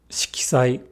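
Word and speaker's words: 色彩: Shikisai. K. Not shi. Ki. Shikisai.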